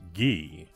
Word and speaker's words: Guy Motors: the otter produced by Guy Motors incidentally here in the hinterland that's how it's pronounced guy I respect that elsewhere it may be pronounced ghee and I don't know for sure so please don't blow